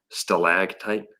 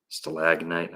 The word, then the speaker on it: stalactite: And then in front of this cavity, I never say it right, stalactite. Yeah, sounds right. Stalactite. Stalagnite, I always say it wrong.